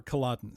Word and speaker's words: Caladan: here's what it is, here's how you pronounce it, so it's Atreides, the ruling house of planet Caladan. Or Caladan, sorry.